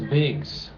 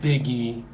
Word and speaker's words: Biggs: and everybody else and his name was bigs not biggie the rapper but bigs that name is spelled b i g GS you can look it